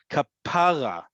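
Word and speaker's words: כפרה: And listen to how I say it, kapara or kapara. Right, we talked about the other week that in modern Hebrew, the emphasis is always on the last syllable. Listen to how I say kapara, right? The emphasis is on the second to last syllable. That also gives you not Hebrew, okay? If it was Hebrew, it would not sound like kapara, okay?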